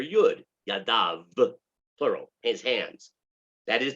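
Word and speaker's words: ידיו: how to pronounce it it's actually written you'd dahl above as if it said his hand but our tradition is to pronounce it yadav is hands and when it says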